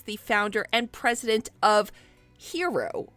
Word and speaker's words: Hxro: founder and president of hero which is spelled hxro and he is rob levy